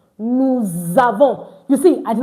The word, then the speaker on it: nous avons: So that explains why it is pronounced nous avons. Why? Because letter S in between two vowels, in the middle like this, one at the back, the one at the front, is pronounced as Z, Z, Z.